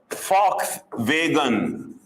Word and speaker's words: Volkswagen: pronounce it is Volkswagen we call it as Fox vegan Fox vegan we write